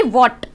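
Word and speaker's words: what: जैसे कि वॉट, वॉट में हम जो H है वो साइलेंट है क्योंकि W के बाद हमारा H आ गया, तो ये साइलेंट वर्ड होता है।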